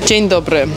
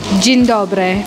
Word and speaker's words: Dzień dobry: Dzień dobry. Dzień dobry.